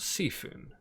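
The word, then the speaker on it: C'Thun: would compare to let's say uh vanilla wild Seafood which is pronounced seafood and I'll explain why because despite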